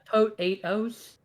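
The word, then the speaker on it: Potoooooooo: yeah or or yeah so it's a tote eight-house ah got it um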